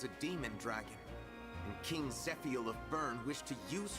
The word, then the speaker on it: Zephiel: own way to pronounce I know it's supposed to be zephiel my brain just wants